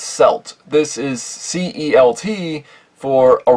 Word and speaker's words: celt: Yes, it's pronounced celt.